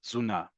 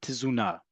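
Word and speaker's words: תזונה: Zuna. Okay, but it is not tuna. It is not tisuna. That is not the word we're talking about here. At least how it's pronounced in standardized modern Hebrew.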